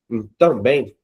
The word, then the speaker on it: também: Veja que também, o bem é mais forte.